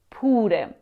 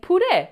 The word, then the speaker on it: pure: The stress is on the first syllable, pure. Now if the stress is on the second syllable, you're saying pure, which means mashed potatoes.